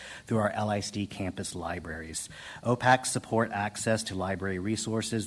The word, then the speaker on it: OPAC: The acronym we use for that is OPAC. It's pronounced OPAC, so you may hear us talk about OPAC tonight.